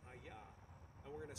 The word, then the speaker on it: HAYAH: just going to call him by his name aah and we're going to spell that h a y a because the verb